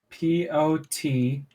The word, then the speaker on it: Potentia: Potentia. Yep. Okay. Potentia. Not even a manifestation of life. So basically, potential just without the L.